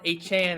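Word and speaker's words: Achane: Devon H.A.N. actually is how you pronounce it.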